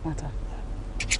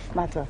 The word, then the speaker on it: Mata: Nata. That's the name? Nata. Yeah. Are you sure you're pronouncing it? Yeah. Mata.